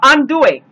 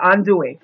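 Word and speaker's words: andouille: South we go and make groceries okay uh undou and I hope I'm spelling it right A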